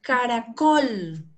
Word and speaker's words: caracol: Caracol. ¿Dónde está la sílaba más fuerte, la tónica? En Col. La col. Col, ¿cierto? Col. Esta es la que suena fuerte.